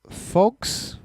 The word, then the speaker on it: Phogs: We also checked out a game called Phogs? Phogs? I can't do this I think it is Phogs, because I keep going to say fucks, but it's PHOGS, yeah. PHOGS, yes. That's the way she pronounced it.